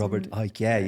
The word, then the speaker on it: Robert Icke: Robert Icke, yeah.